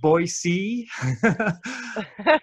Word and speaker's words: Boise: Alberta Canada and Sarah Holcomb and I'm gonna pronounce this correctly Boise Idaho I just learned how to say that